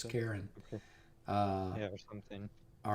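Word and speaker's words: Charun: or cherin or something like like Karen it's Karen uh yeah something all right the figure of Karen stands in the boat holding his ore perfectly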